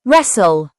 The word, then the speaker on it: wrestle: The wr phonics sound typically makes the r sound, with the w being silent. It often appears at the beginning of words. Examples: right, wrist, wrestle, wrong, rap.